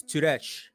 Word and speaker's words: Sturec: it but it's like tirek you can just say it directly it's too rich it's weird i know oh so so so the s is silent and it's turret yes it is it's